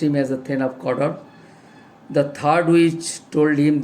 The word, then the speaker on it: Cawdor: Cawdor. Actually, the pronunciation is Cawdor.